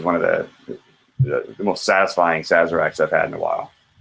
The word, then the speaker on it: Sazerac: And it was one of the most satisfying Sazeracs I've had in a while. How do you say that, Bart? Say Sazerac. Sazerac. Overpronunciation of the Z.